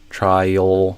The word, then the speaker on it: trial: Reducing try to pay reducing tried try to interesting. Try try. Yeah. Instead of going to a super clear like oo or o sound, trial might become trio or something like that.